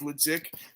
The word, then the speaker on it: Leduc: Everyone, that's not even the correct pronunciation. We're French Canadian, so it's Leduc.